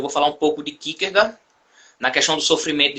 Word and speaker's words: Kierkegaard: A pronúncia correta seria Kierkegaard, em dinamarquês. Dois A's juntos tem som de OU, né?